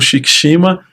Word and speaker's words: Shikicima: Shikishima se escreve, vai aparecer aqui embaixo, né? Mas é Shikishima, tá?